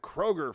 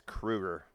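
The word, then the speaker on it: Kroeger: Lane Staley and Chad Kroger from niichel backin studio and Lane apparently knew so he stopped the he goes uh dude it's Krueger like get his name right yeah and he looked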